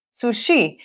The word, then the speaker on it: sushi: boa para anotar porque em português você sabe sushi sushi em inglês aí sushi sushi essa primeira sílaba é a sílaba tônica quando a gente fala